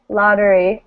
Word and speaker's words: lottery: at the beginning right okay so lottery so that means this syllable the second syllable with the e in it is not stressed right so it becomes uh so it becomes the neutral vowel a question yeah when